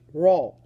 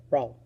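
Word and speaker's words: Rolle: always bugs me so French people you have a little bit of an advantage because this mathematician was French so his first name was Michelle and the last name is pronounced roll roll okay okay so extreme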